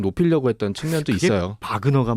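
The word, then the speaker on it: Wagner: 바그너가 맞아요? 와그너가 맞아요? 뭐 보도들마다 조금씩 다르던데. 어떤 식의 발음을 하느냐, 그러니까 독일식 발음이냐, 영어식 발음이냐. 그렇죠. 예, 그런 걸로 알고 있어요. 이거 좀 통일해 주십시오. 우리 언론들에게 부탁드립니다. 원어에 가까운 건 이제 바그너 그룹이 되겠죠.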